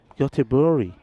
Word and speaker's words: Göteborg: When I got to We say Gothenburg. Landskrona, Yeah. Göteborg.